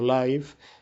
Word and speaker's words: live: radio o televisión y Live en este caso pronunciado Live significa en vivo en